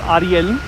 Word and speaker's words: Ariel: after i was born the name ariel is pronounced ariel in spanish and it is strictly